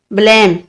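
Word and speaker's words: blame: आगे है ब्लेम, बी से, बी से क्या आएगा, बे, बे का साउंड एल, लाम, लाम आएगा और ए का आई, आई, ए और मीम और ई जो है वो साइलेंट है तो क्या बनेगा, ब्लेम।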